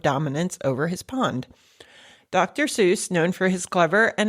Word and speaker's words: Seuss: Um, Dr. Seuss liked that Seuss rhymed with Mother Goose, so he adopted that pronunciation rather than SA, which is the correct German pronunciation.